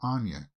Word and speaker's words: Anya: Anya Taylor-Joy, not Anya. She said it multiple times. The way she pronounces her name is Anya.